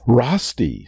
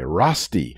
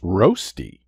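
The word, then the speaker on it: Rösti: you can always hit pause today's word is rusty spelt r-o-s-t-i rusty sometimes pronounced roasty five four three two one zero according to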